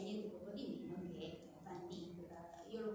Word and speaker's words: Van Dyck: Tra gli artisti che in quegli anni appunto si trovano in quest'area c'è niente poco di meno che Van Dyck. Io lo pronuncio così, scusatemi, forse c'è una pronuncia più aggiornata di cui tenere conto.